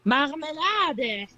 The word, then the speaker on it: Marmelade: Yeah, it's just in German you actually pronounce the last few letters. Yeah. It's like Marmelade.